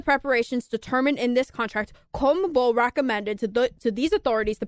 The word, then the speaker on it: CONMEBOL: that organized Copa America, CONMEBOL, that's how you pronounce it, right? Yeah, Okay. CONMEBOL.